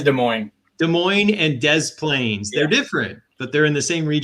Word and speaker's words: Des Plaines: actually that is des moines des moines and des plaines they're different but they're in the same region